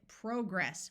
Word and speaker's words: progress: the word progress which in American English has a short o sound whereas the British pronounce it progress with a clear long o sound also we have the